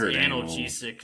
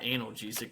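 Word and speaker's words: analgesic: out of your ass pronounce anal jesic not anal gesic the pills go in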